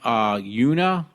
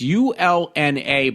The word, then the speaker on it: ulna: scapula, broken clavicle, broken humerus, broken radius and urina. I can't pronounce that. It's ULNA, by the way, with an open wound and